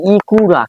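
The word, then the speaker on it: いくら: একটা পার্টিকেল হবে এরপর ইকরা দেসকা ইকরা মানে কি ইকরা এটা কিন্তু আমি লিখেছি কি ইকুরা কিন্তু আসলে এটার উচ্চারণ হবে ইকরা ইকরা মানে হচ্ছে কি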